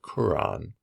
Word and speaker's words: Quran: At the bottom, you see a different spelling, which I think is more common now. It's Quran. Would be pronounced more like Quran, all right?